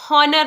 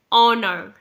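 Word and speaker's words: honour: इसकी प्रोनंसिएशन देख लीजिए यह हनर नहीं है स्पेलिंग एच से शुरू हो रही है लेकिन एच यहां पर साइलेंट है यानी आप इसे प्रोनाउंस नहीं करेंगे तो यह वर्ड है ऑनर ऑनर का मतलब होता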